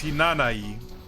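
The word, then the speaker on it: Hinanawi: in you with a lot of japanese words is silent so basically her name actually means hinanai well surname of course that's what i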